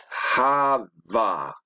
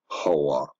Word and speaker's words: Hava: Now, when you scroll down, it say it's H1933, Hava, not Hawa. So it shouldn't even be pronounced as Ha-Wa. It should be pronounced as Ha-Va, like Hi, yeah.